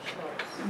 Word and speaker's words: Stoos: And they locals say STOOS.